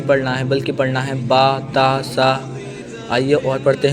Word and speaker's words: ب: تلفظ سے پرہیز کریں، یعنی بے تے سے جیم ہے خے توئے زوئے وغیرہ ہرگز نہ پڑھیں، بلکہ با تا سا ح خ تو زو پڑھیں۔ جیسے کہ ابھی میں